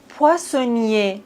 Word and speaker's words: poissonnier: Poissonnier. Ici, on ne prononce pas le R, poissonnier.